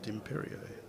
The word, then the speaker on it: Dimperio: It's my understanding of the Italian pronunciation. Not quite sure what the preferred English pronunciation is. He seems to answer to the name of Gus. And I'd suggest you probably pronounce it Dimperio.